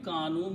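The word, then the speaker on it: كانوا: Kanu means, and we write an alif which don't pronounce with a little circle.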